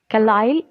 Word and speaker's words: Carlyle: Carlyle. Carlyle, this is the pronunciation of this word, Carlyle, who coined the term environment in the year 1828 in Scotland.